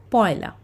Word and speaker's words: পয়লা: la, we need to read it as poila. Okay, just like you have memorized 1 and st is first, in the same way ek and la together it makes poila. So we need to pronounce it as poila only when we talk about the dates.